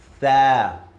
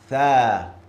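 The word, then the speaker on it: ث: When I say this letter, my tongue goes to the front teeth. Tha. Look at my mouth. Tha.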